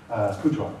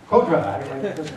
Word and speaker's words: Coudron: Coudron, I know it's mispronounced. How do you say it? Codra, okay.